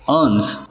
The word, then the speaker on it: urn: अर्न, दोनों words के pronunciation same है।